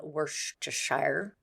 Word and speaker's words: Worcestershire: long they moved into a rented home in Worcestershire and I know that's how you pronounce it because I have the sauce Neil